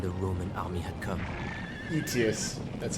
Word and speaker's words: Aetius: Aetius, that's how you pronounce his name.